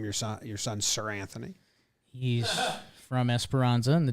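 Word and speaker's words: Seranthony: is that guy's name sir anthony sure is it's pronounced sir anthony yeah like he's knighted that's like a real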